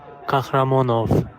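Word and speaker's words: Kakhramonov: My name is Kakramanov. The CK is silent, guys. There's no cock, okay, in the name, by the way.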